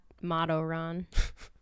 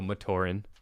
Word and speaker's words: Matoran: Madoran. So Matoran, but I corrected you.